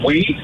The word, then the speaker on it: oui: But O-U-I, but first you said O-U-I, and then one of my friends, astute father, said it's actually pronounced we, guys.